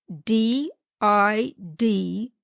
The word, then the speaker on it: DID: did in today's podcast d i d pronounced did stands for dis associative